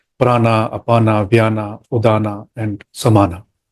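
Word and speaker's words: प्राण: so let's start with Prana what is Prana Prana is Sanskrit word which is made of two words PR plus an in Sanskrit we don't call it Prana but we call it pran pran so all the forms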